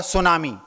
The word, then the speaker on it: tsunami: जैसे आपने एक शब्द सुना होगा, सुनामी। उसकी स्पेलिंग है TSUNAMI। शुरुआत होती है टी से और उच्चारण होता है एस से।